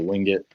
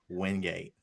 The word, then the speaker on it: Wingate: I had this argument the other day. Somebody said Wingate. I'm like, it's not Wingate. Wingate. Right. They're like, it does not. That's not how you read it. I'm like, that's how you say it.